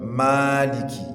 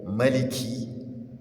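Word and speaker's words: مالك: Now, I want to Malik. Ma there is mud. However, there is another riwayah whereby Maliki is allowed.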